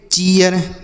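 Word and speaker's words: cheer: सी H double E आर, इसे पढ़ेंगे चीयर।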